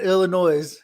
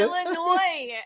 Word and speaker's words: Illinois: that man he said the s is silent in illinois well i tell him